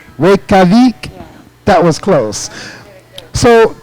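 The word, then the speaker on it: Reykjavík: I couldn't pronounce that one. Reykjavik. Huh? Reykjavik. Reykjavik?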